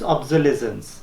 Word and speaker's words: obsolescence: factors we discuss obsolescence some people they say officer of the reasons okay but I just check the what do you call this dictionary okay so the correct pronunciation is obsolescence okay due to when